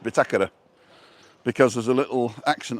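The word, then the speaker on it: bitácora: can get it before me hey Siri what's bitakura in English all right thank you Craig the binnacle so this is the binnacle and it's pronounced bitakera because there's a little action on the a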